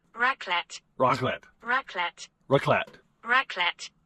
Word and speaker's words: raclette: Raclette? Raclette. Raclette. Raclette. Raclette. Raclette. Okay, it's pronounced raclette, but basically it's broiled cheese on potatoes and bread.